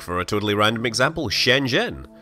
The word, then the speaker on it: Shenzhen: a totally random example shenen how do you say it it's what the zh doing there can't you just ignore the H spoiler you can't Z is his own sound in Chinese I did actually end